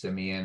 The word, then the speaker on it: Semien: deal um in 2019 marcus simeone that's how i that's that's how it's actually pronounced so my bad if